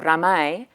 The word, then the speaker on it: ramai: the Asian aesthetic of ramai, busy noisiness, as well as the Islamic valuation of hearing as knowing and of listening with the heart. The phenomenon of ramai, R-A-M-A-I is how you would pronounce this, translated as busy noisiness,